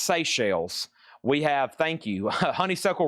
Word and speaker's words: Seychelles: Okay, it's pronounced Seychelles.